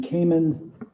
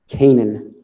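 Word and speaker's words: Canaan: having a hard time hearing are you saying caiman kanan kanan can you have the uh the witness spell that name please c-a-n-a-a-n and the last name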